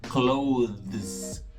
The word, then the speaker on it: clothes: Então fica uma coisa como close, close. Entendeu? É muito movimento na boca para falar clothes, clothes.